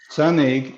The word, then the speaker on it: Sanaig: and the next one is i'm going to butcher the name yep you got it okay so sun egg is a creek right next to the distillery